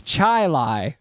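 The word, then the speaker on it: Chili: spelled c h i l i well you pronounced it wrong it's Chilai yeah because that's where we're from yeah we're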